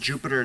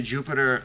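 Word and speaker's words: Jupyter: is to launch a Jupiter lab server so basically this is what I'm gonna do when I say Jupiter that's spelled with a Y lab and then if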